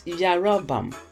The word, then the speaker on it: Jeroboam: So the letter J was actually letter Y. So if you look at how the Hebrew people would write and actually pronounce Jeroboam, is Yarabam.